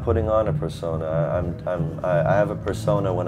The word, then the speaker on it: Persona: You said you mentioned the recent album, Persona. Yeah. Do I pronounce it right, or is it, yeah? Yeah, Persona. Yeah. Some, I left it open, Person A, Persona, but yeah.